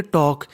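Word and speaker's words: talk: उसे हम लोग पढ़ेंगे टॉक यानी जो हमारा एल होता है वो साइलेंट होता है यानी हमें पढ़ना है वॉक और टॉक हमें वाल्क और टर्क नहीं पढ़ना ये ऐसे शब्द है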